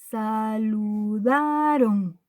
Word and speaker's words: saludaron: Aquí está el golpe de voz. ¿Esta es última sílaba? No. Es última, penúltima. Ahí está el golpe de voz. Esta palabra no es aguda, porque su sílaba tónica no es la última, es la penúltima.